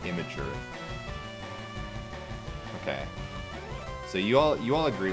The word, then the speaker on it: Imgur: Or like Imager. It's Imgur. That's what I've always said Imgur. But then I hear some people say like Imager.